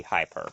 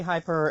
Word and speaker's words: KittyHiPur: pronounce it right because the way I read it I read it as like hyper like the word hyper but I read it as two separate words because of high in